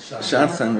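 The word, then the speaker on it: שדכן: Shadchan, right.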